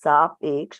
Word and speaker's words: सापेक्ष: So the word that you're having trouble pronouncing, sapeksh, it's sapeksh मतलब अपेक्षा के साथ, और निरपेक्ष मतलब बिना अपेक्षा के, without अपेक्षा and with अपेक्षा.